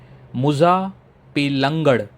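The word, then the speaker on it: Muzhappilangad: डे टू को मैं थोड़ा जल्दी समराइज़ करूंगा क्योंकि डे टू जो है यह है मुजा पेंगड़ बीच।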